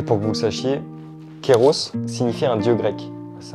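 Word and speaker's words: Kairos: Pour tous ceux qui n'auraient pas vu le spectacle, et pour que vous le sachiez, Kéros signifie un dieu grec. C'est un dieu grec, Kéros. Normalement, Kéros, ça s'écrit K-A-I-R-O-S, et ça veut dire saisir les moments opportuns.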